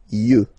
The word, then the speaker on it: yeux: Un œil, des yeux, okay? Don't pronounce the final x as usual.